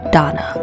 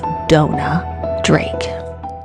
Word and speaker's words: Dona Drake: in this presentation I pronounced the actress's name as Donna but it's Dona Drake in the Golden Age